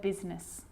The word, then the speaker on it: business: or rhyme good news the i is not usually silent it's usually pronounced except in the word business okay k now i